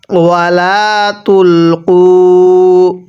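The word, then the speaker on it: وَلَا تُلْقُوا: এখন অনেকেই প্রশ্ন করতে পারেন হুজুর এই যে একটি আলিফ দেখতেছি এই আলিফটি কি জন্য লেখা হয়েছে? এই আলিফটি শুধুমাত্র লেখার সময় আসবে। পড়ার সময় আসবে না। কারণ আরবি কোন একটি বহুবচন লেখানোর পরে এরকম একটি আলিফ লেখানো হয়।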